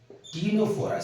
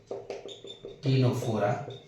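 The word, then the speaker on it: Ctenophora: example you can see Tora C is always silent here Tora and Tora they can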